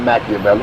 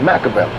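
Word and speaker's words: Makaveli: my name is not machiavelli my name is macavelli i took it right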